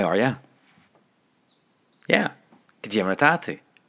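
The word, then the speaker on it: Cad é mar atá tú: Yeah, Kajimratatu. Kajimratatu.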